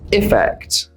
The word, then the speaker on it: effect: The first one is effect. Effect with an I sound. The other is affect with an sound.